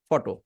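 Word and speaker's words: photo: দেখুন বাম পাশে আমার একটা শব্দ আছে ফটো দুই সিলেবলের প্রথমটা স্ট্রেস পটো পটো পটো পটো সো দেখুন ডা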